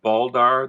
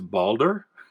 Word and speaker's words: Balder: do you pronounce that i have always pronounced that baldar the brave although it kind of says balder like me like at my age i am balder than i used to be and i've admitted to